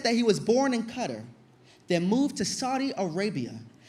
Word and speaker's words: Qatar: Qatar and I said Qatar and he goes actually it's pronounced cutter and I said I